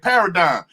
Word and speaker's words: paradigm: Yeah, and when I'm saying dime, I'm not saying DIME. I'm saying Mm. DIGM.